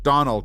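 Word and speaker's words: Domhnall: uh Brennan Gleason's son, Donald Gleason. Kind of looks like Donald Gleason or Donal Gleason I think is how his name is actually pronounced.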